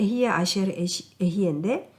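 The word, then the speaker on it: אהיה אשר אהיה: 발음이 맞는지 네, 맞아요. 모르겠네. 네. 그러니까 에히에 아시엘 에히에인데 그러면 이제 영어로 보면은 에히에를 보통 그러니까 에히에가 비동사잖아요.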